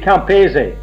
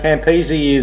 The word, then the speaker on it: Campese: you pronounce your surname well it depends on what country you come from it's really it should be kamperzee the italian pronunciation exactly that's how you should say it but uh campisi is what most people say well the companies is